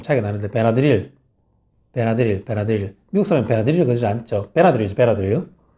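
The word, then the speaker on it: Benadryl: 발음이 좀 차이가 나는데, 베나드릴. 미국 사람은 베나드릴을 그러지 않죠. 베나드릴. 항상 액센트 앞에 들어가야 됩니다. 베나드릴이라 그러면 미국 사람 못 알아들어요.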